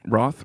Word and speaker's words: Routh: It's unfortunate they couldn't afford Brandon Routh, though. That's a shocker. Yeah, Roth.